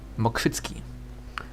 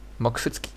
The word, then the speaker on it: Mokrzycki: Mokrzycki. This is how it's called in Poland. Mokrzycki.